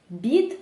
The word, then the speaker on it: beat: «beat», що означає «бити»: тут звук [i], він у нас довгенький: .